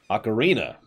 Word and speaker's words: Ocarina: ruminations of this game, I called it Ocarina, or Ocarina, or... Oh god, I can't remember what the correct pronunciation is all of a sudden. Hang on, hang on. Let's look this up real quick. Hang on. Hang on, hang on. Ocarina. Ocarina is apparently correct.